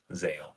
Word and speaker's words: Zale: them is Vil not Veil Zale Zan Zale Zale for sure that's his name and the other one looks like it's pronounced Valor valer or something but maybe it's